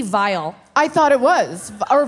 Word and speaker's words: Viall: I oh it is it's viall yeah it's terrible i've saying it wrong this whole time it's um it's one of the worst last names it should just be vile I thought it was